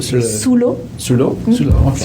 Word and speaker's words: sous l'eau: Sur le eau. Sur le. Sous l'eau.